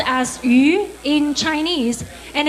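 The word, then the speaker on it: 鱼: dish in the dinner and the fish is pronounced as you in Chinese and it's also pronounced the same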